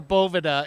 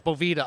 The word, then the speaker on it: Boveda: do the Tough ways Boveda dude or Bovada if you guys want to be franch call it beloved ah I'm American so it's Boveda ok hey that works for